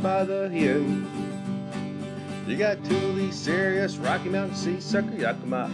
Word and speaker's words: Thule: You got Thule, yep, pronounced Thule, that started in Sweden before 43, with lots of trusty ways to haul your steed.